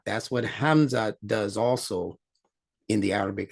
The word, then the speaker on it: Hamza: Hamza. That's right. And I'm going to show you how to pronounce this Hamza.